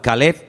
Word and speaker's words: Caleb: Para diferenciar el nombre del perro se pronuncia diferente, pero se escribe igual. Caleb es para el hombre, para un nombre propio.